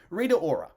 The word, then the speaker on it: Rita Ora: is it reader or is that hey you pronounce her name yeah rita ora she's the knight and she sounds like she's